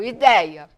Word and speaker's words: ideia: seguido de ditongo ideia ideia é uma palavra paroxítona terminada em a se eu for separar a sílaba é i dei a tem três sílabas a sílaba mais forte é o dei que é faz da palavra ser uma paroxítona e terminado em a